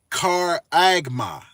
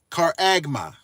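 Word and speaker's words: χάραγμα: number G 5480 it's a um Greek word pronounced caraga caraga okay so here's the meaning of that a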